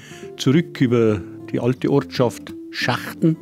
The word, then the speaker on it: Schachten: über die alte Ortschaft Schachten muss man aber sagen das Schachen ausgesprochen weil es gibt da nur schachenhaus und die sind die schachtenhäuser und dann über